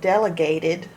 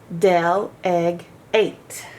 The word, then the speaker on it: delegate: Gates Dell egg eight Dell egg eight it's not Del E Gate if that was by itself it would make its long sound e but it's not it's